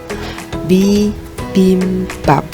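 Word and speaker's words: 비빔밥: Bacanya ya, bibimbap, bibimbap, bibimbap.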